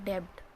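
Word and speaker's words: debt: में लेफ्ट बोलते हैं लेकिन अपडेट कभी नहीं पड़ता है उस हम सिर्फ डेट पड़ते हैं बीच होता है वह साइलेंट होता है ऐसी एक वर्ड और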